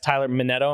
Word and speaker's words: Minetto: I have with me today our special guest, Tyler Metto. Am I pronouncing it right?